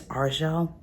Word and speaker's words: Argel: finished argel's resonance and realize it's arjo that's how you pronounce that I really loved